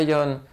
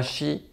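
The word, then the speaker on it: 四: le cas du 4 donc qui peut se prononcer soit yon soit Chi ou dans le cas dans le cas du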